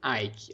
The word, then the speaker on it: Icke: Não sei se é assim que a gente escreve certo, se pronuncia, mas é David Icke. Icke é I-C-K-E.